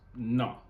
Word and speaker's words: Ngo: It's Vietnamese. NGO. It says it's pronounced Na.